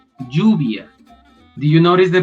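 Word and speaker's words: lluvia: in spanish you say juvia do you notice the pronunciation juvia so it sounds more like j instead of ye yes but that's the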